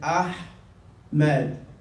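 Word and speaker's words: أحمد: Yeah, from the deep of the throat. Ahmed. Get it? Ahmed. The ha in the beginning looks like this. Ahmed. Ahmed. That's how you read it.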